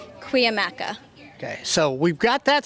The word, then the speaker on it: Cuyamaca: I'm going to ask you because I've asked somebody, they have said it's Cuyamaca. I've had other people that say it's Cuyamaca. So I'm going to ask you the correct way to say your college's name. Cuyamaca.